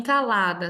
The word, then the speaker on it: calada: porque possui três sílabas em calada a sílaba tônica é o la e a palavra é paroxítona sendo classificada em trissílaba